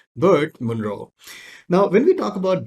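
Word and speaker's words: Burt Munro: called bert monroe right what new zealanders call it birth monroe well i am not with that kind of pronunciation so i'm just going to stick to my own which is typical indian pronunciation and that is burt monroe now when we talk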